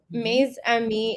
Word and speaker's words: Mes Amis: So, Maze Ami is French for my friends.